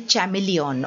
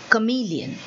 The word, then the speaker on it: chameleon: Now children, many people say chameleon also, but then that is not the pronunciation which is there in the dictionary. Okay, so we say chameleon.